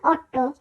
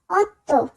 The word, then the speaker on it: otto: ত এর মত এখানে কিন্তু আমরা বলবো না অট্ট আমরা উচ্চারণ করব অত্য নভে দিয়েছি ইটালিয়ান সংখ্যার দশের উচ্চারণ আমরা ছি